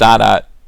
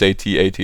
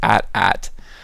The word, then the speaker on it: AT-AT: a dots I'm sorry it's pronounced odd at those of you Millennials who think it's 8080 its at-at why you know instead I'm